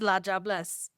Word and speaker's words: La Diablesse: So in Creole, we don't pronounce it like that. We pronounce it as La Diablesse.